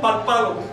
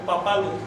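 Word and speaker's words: papalotl: Yo no digo párpalo, sino papalo.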